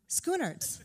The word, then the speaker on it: Schoenaerts: I've heard it pronounced so many ways, and they're all wrong. So, do it again. Schoenaerts.